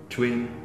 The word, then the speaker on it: chuyên: Những từ có u, y dài, n như chuyên thì kiểu như họ bỏ chữ e, đúng không? Và nói như chuyên.